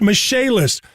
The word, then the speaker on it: Michaelis: i c h a e l i s pronounced mache list call 844 fix indy that's 844 fix indy